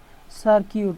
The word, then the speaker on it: circuit: স্বরধ্বনি অথবা ভাওয়াল না থাকে, তাহলে UI এর উচ্চারণ হয় ইউ এর মতো। যেমন GUI LTY গিল্টি, গিল্টি হচ্ছে অপরাধী বা দোষী। CIRCUIT সার্কিউট, সার্কিউট হচ্ছে বর্তনী।